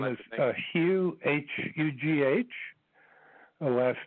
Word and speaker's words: Hugh: Yes, my name is Hugh, H-U-G-H. The last name is. It's spelled T like Tom, like Nancy, and